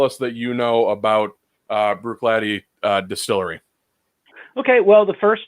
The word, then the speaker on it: Bruichladdich: The way that I've always heard it pronounced is Bruichladdich. Dan, you? Bruichladdich. So I read Bruichladdich.